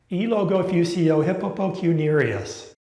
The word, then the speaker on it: Eellogofusciouhipoppokunurious: Elogofusio hippopocuniarius. Hey, Thomas Thomas, let's see if you can pronounce the word. Absolutely, absolutely, Tom G. That's a piece of cake. It's pronounced eel-go-fuchsia hippopotamus curious.